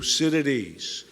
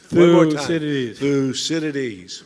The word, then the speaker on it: Thucydides: big thinker today and should know how to pronounce this name so on three we're going to do it in unison one two three fuu Citadis Citadis one more time through Citadis you want a fun